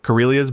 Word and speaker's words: Karelia: Number two, Karelia's border forests, Finland and Russia.